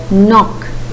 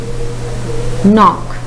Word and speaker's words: knock: The first word, knock. Knock. The silent letter is K.